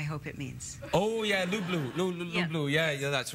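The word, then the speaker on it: люблю: Ya tibya lublu. Do you know what that means? Yes. I probably said it wrong. Did I say it wrong? No. I love you, I hope it means. Oh, yeah, lublu.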